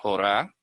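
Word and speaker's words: יורה: Torah, esto se pronuncia Jorah y esto se pronuncia yará.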